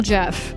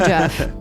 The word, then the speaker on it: Geoff: original Jeff. OG Geoff Keighley, the original Jeff. So thank you all so much for listening, and remember who the OG is, the original Jeff Keighley.